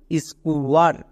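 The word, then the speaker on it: square: Next একদম শেষে ই আছে, আমরা সবাই জানি শেষের ই সাইলেন্ট থাকবে, তাহলে কি হলো স্কুয়ার।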